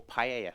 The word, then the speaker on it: paella: seafood pie ever so or Paia shall I say correct pronunciation so we're going to